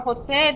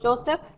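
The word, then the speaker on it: José: You're going to notice, too, in the 1700s, for Jose, they used to use the JPH a lot. They don't pronounce the word Joseph, just Jose.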